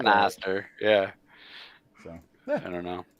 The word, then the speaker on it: Knob Noster: Well, that's what our Northeastern, that's like Knob Nooster? Yeah, I don't know. I don't know. As like Northerners, that's like us just being like, sound it out. Yeah. I mean, that's how I pronounce it.